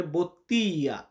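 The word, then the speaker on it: bottiglia: এখানে দেখুন আমরা যদি ইতালিয়ান আর্টিকেল ফোকাস করতে যাই ওয়ার্ডের ভিতরে এটার উচ্চারণ আসবে বোত্তিয়া। বোত্তিয়া।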